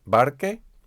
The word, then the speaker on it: barche: These change their spelling, their orthography, in order to keep the K sound or the G sound, the hard C or the hard G sound. Nouns ending in CA, like barca, change their spelling to barche, barque, B-A-R-C-H. So the C becomes a C-H.